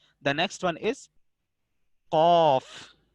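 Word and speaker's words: قاف: The next one is qaf. Qaf is a lahviya letter pronounced from the tongue and the soft pit.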